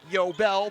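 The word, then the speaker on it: Eyobel: Yobel is spelled E-Y-O-B-E-L. You wouldn't think Yobel, but this E is silent.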